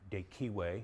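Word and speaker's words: De Cive: uh a book called de CH or de kiwe depending on how you pronounce it on the citizen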